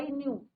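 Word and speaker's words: knew: नो न्यू के is your silent. के क्या रहता है बच्चों? यहां पे साइलेंट रहता है।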